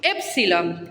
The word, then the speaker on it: épsilon: Épsilon tiene sonido de E breve. ¿Qué significa esto? Se pronuncia una E corta. Épsilon es E.